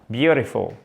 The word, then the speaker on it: beautiful: et au fait bien un accent tonique sur la première syllabe s'il vous plaît ensuite